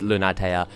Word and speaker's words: Lunatea: the infant a million these four syllables it is Luna taya in the same way